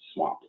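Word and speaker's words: SWMP: nurs systemwide monitoring program or swamp pronounced swamp the goal of swamp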